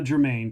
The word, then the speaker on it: Germain: Please welcome the one and only Germain to Epic Realms.